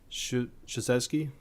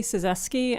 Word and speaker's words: Szewski: Shasesky. Please correct me there. When you identify yourself, I'll know how to say it from now on. Please state your name and identify yourself for the record. Good morning, and that's fine. It's Szewski.